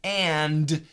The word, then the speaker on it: and: on the word but in a common word like and we almost always say you and I you and I there is no d Internet Internet International International